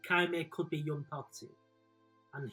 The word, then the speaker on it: Qimir: I'm not even going to try and pronounce his name. Qimir. Qimir, that's it, yeah. Why you called him Quagmire the other day?